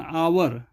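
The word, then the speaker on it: hour: and they spent, और वो spent वो बिताती थी, एन आवर, एच इसमें साइलेंट हो जाता है, आवर इसको पढ़ते हैं, आवर एक घंटा बिताती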